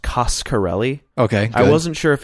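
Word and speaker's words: Coscarelli: thing I learned for sure is that it's pronounced costarelli okay I wasn't sure if it was karelli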